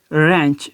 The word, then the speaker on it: wrench: इनके इससे हम W है यहाँ पे, ये साइलेंट हो जाएगा, तो हम इससे कहेंगे रिस्ट। अब इस तरीके से रेंच, अब वर्ड है रेंच, WRENCH।